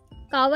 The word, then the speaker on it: कहवा: ने मांगा कावा कहवा कावा ही बोलते हैं यूजुअली लेकिन चले जी सही प्रोनाउंस कर लेते हैं कहवा बोल देते हैं थोड़ा सा मॉडर्न हो